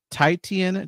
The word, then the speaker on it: Titian: But her way of doing it is like getting Titian to decorate a cake. Yeah, Tishian actually. I believe at least that's how they pronounce it.